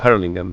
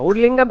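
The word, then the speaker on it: Hurlingham: Bueno, quiero decirles, escuchando paisano de ustedes, ¿cómo pronuncian? Urlingham, Urlingham o Herlingham. No, Urlingham, pero la canción es paisano de Urlingham.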